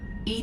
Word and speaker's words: EDI: is a jar why are you named Ed Ed is the phonetic pronunciation of Eed that is an acronym for